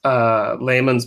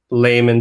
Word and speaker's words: Laymon: Keith Lehman's book, How to Slowly Kill Yourself and Everyone, and I'm getting the title wrong.